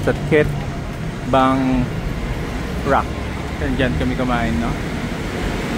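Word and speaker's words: Khet Bang Rak: How do you pronounce that? Ket Bang Rak.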